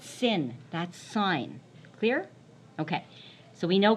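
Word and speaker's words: sine: Don't say sin. Say sign.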